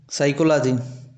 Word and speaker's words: psycho: उसी प्रकार साइको इसको पिसको नहीं पढ़ते। साइको पढ़ थे।